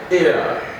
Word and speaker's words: heir: We want to see which are these examples of these words that are silent, or that H is silent in these words.